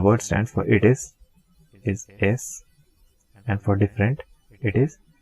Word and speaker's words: y: We are going to write y, but we are going to pronounce it as e.